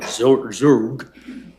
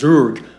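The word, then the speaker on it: Zug: And so some like Zurg funny that's how it's pronounced Zurg have decided they don't want to have any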